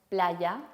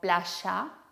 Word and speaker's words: playa: No decimos playa, sino playa.